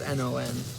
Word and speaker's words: non: So usually, so when you say it, you just say no. You don't really pronounce the last N. Non. So you go no.